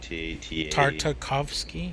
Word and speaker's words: Tartakovsky: Again, it's spelled it's like Gendy or Gennedy, and then I thought it was just Tarkovsky, but it's Tarta. Tartakovsky, yeah.